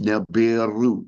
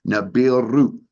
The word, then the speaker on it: Nibiru: And that is pronounced Nibiru with a rolling R at the end, Ru, right? Nibiru.